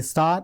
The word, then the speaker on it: star: The star is say actually is star and R. Final R is not pronounced.